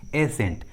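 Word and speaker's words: ascent: हैं तो सी का उच्चारण नहीं करते, सी साइलेंट होता है। For example muscle, एसेंट।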